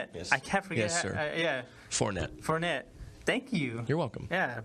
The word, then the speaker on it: Fournette: Leonard Fournette. Fournette, yeah.